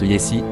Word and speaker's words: jessi: On écrit jessi, mais on prononce yessi.